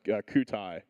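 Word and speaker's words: Kyutai: a French uh AI lab I think it's pronounced Cai uh that's a a nonprofit research lab that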